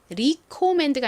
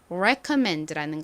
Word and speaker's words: recommend: 추천하다라는 의미의 동사가 recomand가 아니라 recommend라는 거 잘 기억해 주세요.